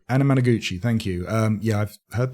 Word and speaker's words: Anamanaguchi: I always get the band's name wrong. Is it Anamanaguchi? Anamanaguchi, thank you.